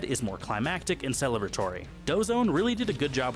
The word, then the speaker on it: Doseone: That's pronounced dose one.